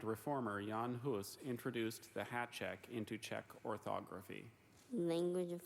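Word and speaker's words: háček: priests philosopher and reformer yan huis introduced the Hat check into check orthography language of origin peace hat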